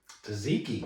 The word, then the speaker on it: Tzatziki: Tzatziki.